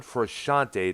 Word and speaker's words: Frusciante: Well, one thing I've noticed is that when John Frusciante, that's how his last name is pronounced, Keith.